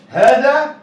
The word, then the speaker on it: هذا: يبقى اسم الاشاره هذا به حرف ايه؟ ها؟ ينطق ولكن لا يكتب، ينطق ولكن ايه؟ لا يكتب. ايه هو الحرف ده؟ خد بالك، حرف الالف، صح؟